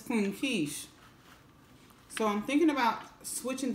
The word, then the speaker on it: Kesh: ate you good but everyone calls me Queen cash it's cleaning quiche so I'm thinking about switching the spelling of